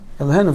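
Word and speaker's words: אֱלֹהֵינוּ: Elohenu, very good. Pronounce the hey. Many I hear Elohenu. Elohenu. There's no word like that, Elohenu.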